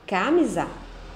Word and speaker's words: camisa: Na palavra camisa, mi é a sílaba mais forte. Vamos fazer o mesmo treino. Camisa? Não. Camisa? Ok. Camisar? Não. Então eu vou definir que mi é a sílaba mais forte. Mi é a sílaba tônica da palavra camisa, certo?